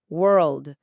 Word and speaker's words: world: A diferença entre word, que é palavra, e world, mundo. Isso. E a diferença mecânica ali é apenas a elevação da língua para o L, antes de chegar no D. Tem que enrolar a língua.